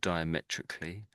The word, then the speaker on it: diametrically: So, are you okay saying the the word diametrically?